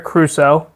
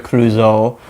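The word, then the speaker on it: Clouseau: I was going to say the Pink Panther, but as Inspector Crusoe, right?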